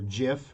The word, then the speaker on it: GIF: the air and yes the guy who created the the gif or jif the the graphic format says it is jif with a like the j sound jiff not gif so yes